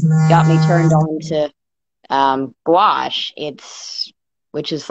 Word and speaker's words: gouache: Mosaics, but it looks like you also do is it gouache and things like Gouache.